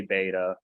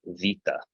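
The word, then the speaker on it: βῆτα: The kind of Greek pronunciation you hear in church, it actually makes a V sound. So the pronunciation for this word would be vita.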